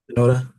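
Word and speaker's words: Shinoda: into like the hip hop beats of Mike Shioda. Mike Shioda, right? Is his name? Noda.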